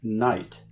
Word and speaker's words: knight: That explains, for example, all the silent letters in knight.